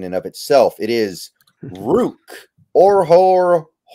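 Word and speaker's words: Ruke Orhorhoro: It is Rook Orhorhoro. Rook Orhorhoro.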